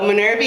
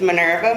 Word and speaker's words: Minerva: so my name is now call myself Minerva yeah the way it's spelled because I keep getting so many so minority yeah but it's Minerva and that's